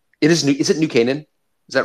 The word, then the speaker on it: New Canaan: of new canaan it is new is it new canaan is that right yes yes yes yes that's again he's like a pronunciation god and everything um but it which